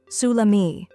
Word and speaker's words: salami: Some examples include salami, suh-lah-mee, prosciutto, proh-shoo-toh, pâté, pah-tay, fromage, froh-mahzh, cornichons, koh-nee-shohn, baguette, bah-get.